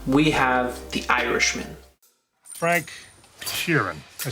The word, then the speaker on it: Sheeran: Frank Sheeran.